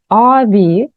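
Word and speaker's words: abi: брата ключ ми знаємо avi старший брат дивимося хоч і вимовляється AVI ми на письмі Я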